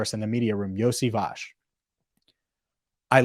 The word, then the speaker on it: Iosivas: this name right Andre iosivage that's right Andre yosevash is who they picked in round six and